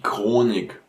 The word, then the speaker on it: Chronik: So you have here these kind of words which are not pronounced with a h, but more with a k. So das Charisma, the charisma, of course, or die Chemie, chemistry, obviously. Die Chronik, the chronicle, of course.